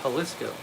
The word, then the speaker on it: Jalisco: Gringo says it's pronounced Jalisco.